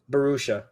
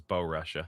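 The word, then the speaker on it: Borussia: I probably completely butchered the last one. I think it's Is the first one Barushia? Barushia. Barushia. Okay. I I really thought it was Bo Russia.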